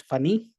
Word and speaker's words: Phani: My name is Funny. It's spelled as P H A N I. It's funny that I funny. I respond to funny too.